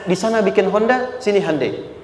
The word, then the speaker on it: Hyundai: sana bikin Honda sini Hyundai Hyundai kan dibacanya Hai Ya kan sana Honda sini hundai gitu di apapun yang